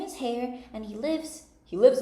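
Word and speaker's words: Haigha: happy his name is hair he pronounced it so as to rhyme with mayor I love my love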